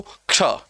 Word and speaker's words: क्ष: क्ष है। इसका उच्चारण दरअसल इस तरह होना चाहिए।